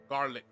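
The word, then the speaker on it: Garlick: Gotta go to Professor Garlic. That's how you pronounce it, in the greenhouses.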